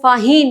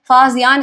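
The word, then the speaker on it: Faxian: अब प्रोनाउंसिएशन में थोड़ा कंफ्यूजन है, कई लोग आपको इसको फाहीन या फिर फाजीन बोलते हुए सुनाई देंगे, लेकिन आपके एनसीईआरटी में लिखा हुआ है फाजियान, इसको बोलना है तो हम वही प्रोनाउंस करेंगे, ठीक है।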